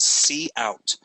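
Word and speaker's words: cout: way that you pronounce the way you pronounce this is called c out so you see c followed by the word out so when i say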